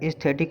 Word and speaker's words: aesthetic: Lover of आर्ट जो होता है एस्थेटिक होता है। एस्थेटिक यानी कि AESTHETIC। एस्थेटिक मीन्स होता है इसमें एक साइलेंट रहता है, एस्थेटिक होता है।